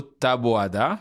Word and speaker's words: Taboada: Pour l'épisode d'aujourd'hui, je suis accompagné par mon collègue et co-animateur, le gestionnaire de portefeuille Marcelo Taboada. Bonjour Marcelo. Bon, t'as dit bien mon nom. Ah oui, je le prononce bien?